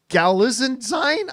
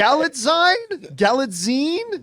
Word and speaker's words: Galitzine: Galitzine? Jonathan is the grammar right here, the grammar man. I think it's Galitzine, like magazine. Galaxine, yeah. Okay, Galitzine.